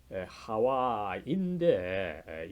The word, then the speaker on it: 하와: 뭐 통속적으로는 이브라고 알려져 있는데 여러분 원래 이 하와가 이제 뭐 영어로 발음이 되면서 에바 또 이것이 이제 이브 영어 발음이 굉장히 조금 뭐라 그럴까요? 조금 뭐 탈락하고 쉽게 되면서 어떻게 보면 발음이 좀 이 본래 모습을 잃어버린 상태로 영어 발음이 발전되어 왔기 때문에 원래 하와인데 영어에서는 이브라고 발음하고 있죠.